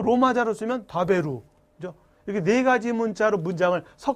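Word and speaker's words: 食べる: 우리 한글로 정확하게 표기 다베루 이렇게 해서 루가 아니라 르 이게 일본어 정확한 발음이에요 어쨌든 먹다 단어가 다베루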